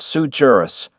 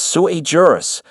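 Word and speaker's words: sui juris: It's not sujurus, my guy. It's sujurus, which basically translates to I googled this 5 minutes ago.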